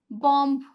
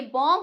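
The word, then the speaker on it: bomb: बोलते हैं लोग इसे बॉम्ब बोलते हैं ठीक है जो कि गलत है क्योंकि क्योंकि अगर बी से पहले एम आ रहा है तो बी क्या रहेगा? साइलेंट रहेगा। तो ये बॉम्ब होता है।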